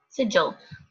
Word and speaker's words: sigil: Let's see how we pronounce this real quick. Let's just do this. Just walk with me. Sigil.